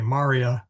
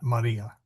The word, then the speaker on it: Maria: So you say Maria, not Maria. The accent is on the first MA, whereas in the Blessed Mother's name, it is on the I.